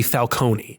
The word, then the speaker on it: Falcone: Italian name would be falcone. It would be a hard e at the end.